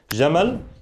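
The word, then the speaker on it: جمال: We talked about the word Jamal and Jamal, right? Jamal, Jamal, and the importance of extending the alif sound, Jamal. When we have the alif, Jamal, right?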